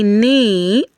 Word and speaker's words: knee: The silent K, when you see K and N together, it's going to take the sound of letter N, while the K is silent.